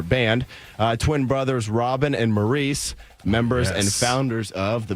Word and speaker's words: Maurice: Listen, I think, honestly, and I'm not saying this to correct you, but I think it's Morris Gibb. I know it's spelled Maurice.